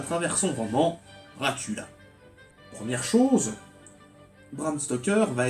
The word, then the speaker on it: Dracul: Son père était le dragon, lui était le fils du dragon, et en roumain, ça se prononce Dracul, ou Draculea, ou Dracula.